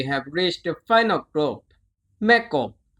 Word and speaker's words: แม่กบ: reached the final group แ ม ่ ก บ แ ม ่ ก บ แ ม ่ ก บ Thai แ ม ่ ก บ is similar to the English the P sound.